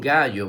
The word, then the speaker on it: gallo: Un gallo, muy bien. La palabra gallo se escribe con G-A que suena ga, doble L-O que suena yo. Gallo, gallo.